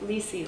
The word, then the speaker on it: Lisey: my name so um I like to give associations so a lot of people know kisi from Game of Thrones so I say it's Ley like kisi but it's actually a